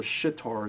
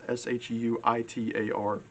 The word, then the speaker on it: Shuitar: He also plays an instrument called it's called a shitar. It's pronounced Shuitar, and it's a legitimate company.